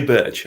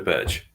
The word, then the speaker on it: Berge: Well, Berge now, after listening to you, Hal. But it's the way he says it. I used to say Burge. I used to say Sander Berge.